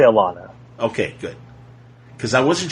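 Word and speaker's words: Alanna: I say Alana.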